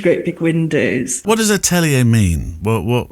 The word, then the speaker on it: atelier: It's atelier, isn't it? Atelier is the correct pronunciation.